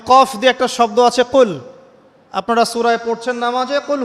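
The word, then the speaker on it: قل: ছোট কাফ পড়েন এবং কুল না পড়ে আপনি কুল পড়েন, বলেন যে কুল হু আল্লাহু আহাদ, তাহলে অর্থটা পরিবর্তন হবে। অর্থ দাঁড়াবে খাও আল্লাহ এক এবং অদ্বিতীয়। আমি কি বুঝাতে পারছি? শুধুমাত্র কফ এর উচ্চারণ সঠিকভাবে না করার কারণে আপনার অর্থ পরিবর্তন হয়ে গেছে, বলো এর জায়গায় খাও অর্থ চলে এসেছে।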